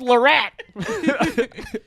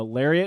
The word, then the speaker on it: Lariat: guy's got a ford lorette he thinks he's luxurious or something you think you better you're like you're like yeah you took the words right out of my mouth it's actually pronounced uh lariat it's like oh you're